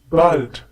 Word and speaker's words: bald: Once again, bis bald. This is commonly used amongst friends. Please remember here that bald has the sound of A, like hallo.